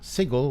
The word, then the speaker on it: Sigil: may recognize and they demoed sigle which I didn't know that's how Americans pronounce it yeah and uh and